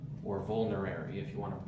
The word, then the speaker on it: vulnerary: different excellent medicinal qualities number one it is vinary or vulnerary if you want to pronounce it correctly but I hate saying it